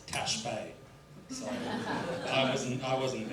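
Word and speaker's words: Ta' Xbiex: an example up there I was pronouncing for seven days straight T IEX um and then on the last day the taxi driver corrected me that it's Tash Bay so I wasn't I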